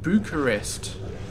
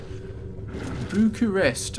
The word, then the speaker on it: Bucharest: And apparently you pronounce it Bucharest. Bucharest. I think that's right. So Bucharest. It's definitely not Bucharest. Bucharest is definitely bad, so Bucharest.